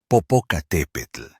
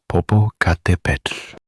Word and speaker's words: Popocatépetl: We will explore the pronunciation of this famous volcano in two ways, the modern Spanish version, and the original Nahuatl. First, in Spanish, it is Popocatépetl.